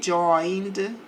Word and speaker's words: joined: He joined. Não pronuncio o e the army.